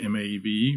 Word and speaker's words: Maeve: Say it right, M-A-E-V-E, Maeve.